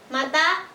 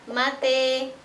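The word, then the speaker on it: مَتَى: Mata, mate, asa, ase, bala, bale.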